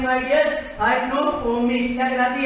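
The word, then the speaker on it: hypnopompic: सही प्रोनाउंसिएशन की बात, हाइप्नोपोमिक।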